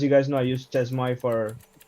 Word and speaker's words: chezmoi: guys know, I use Chezmoi for. It's called Chemo, I think. It's pronounced CHEZMOI for managing my dot files across several computers.